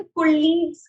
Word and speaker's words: colleagues: നമ്മൾ colleagues എന്ന് പറയില്ല. ഇംഗ്ലീഷിൽ ലാ ഇല്ല. നമുക്ക് മലയാളത്തിലാണ്, നമ്മൾ മലയാളികളായതുകൊണ്ടാണ് ആ ഒരു പ്രൊനൗൺസിയേഷൻ വരുന്നത്.